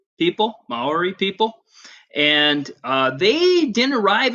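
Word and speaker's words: Māori: people in New Zealand were thee it is pronounced Mauri Mauri people Maori people and they didn't arrive in New Zealand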